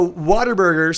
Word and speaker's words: Whataburger: a veggie burger Lenina avocado burger i there's water burger right down the street from my my place yeah and for those of the dough no water burgers so it's so it's it's spelled what a burger but it's actually pronounced